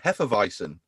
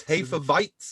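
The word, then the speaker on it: Hefeweizen: beer and he went how do you pronounce it in german and i went heferveisin and he went no no no no no no it's hey for bites and i'm like oh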